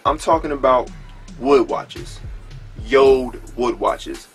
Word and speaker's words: JORD: YouTube watcher but I'm talking about boy watches yo wood watches spell J Ord but it's pronounced yo listen man so they reached out